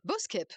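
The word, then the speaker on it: Boeschepe: Et puis si on on pousse un petit peu, alors là, j'ai peur de mal prononcer le Boskep. Boskep, pas mal.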